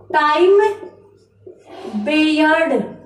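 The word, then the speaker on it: time-barred: इसका उच्चारण क्या होगा? टाइम बेयर्ड। टाइम बेयर्ड इस शब्द का उच्चारण होगा।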